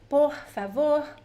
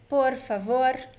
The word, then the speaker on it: por favor: As I said before, the R can be pronounced in different ways, right? You can say por favor, or por favor, or por favor. The three pronunciations are correct.